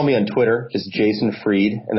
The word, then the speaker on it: Fried: on twitter is Jason freed and that's spelled Fri Edie like fried so jason freed on